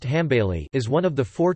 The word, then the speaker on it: Hanbali: the Hanbali school arabic al aliy pronounced ham bailey is one of the